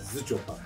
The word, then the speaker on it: Zschopau: Acaba biz bunları doğru mu telaffuz ediyoruz? Bence tam olarak Zıçopa.